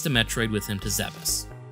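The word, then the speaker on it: Zebes: with him to zebus a quick aside here is it zebus or Zees I grew up pronouncing it as Zeb so it sounds weird to me to say Zeus we didn't have the internet at the time to correct us or voice acting to pronounce everything for us so I'm just going to alternate between the two pronunciations to make everyone mad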